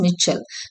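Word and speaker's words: Michal: This is pronounced as மிச்சல்.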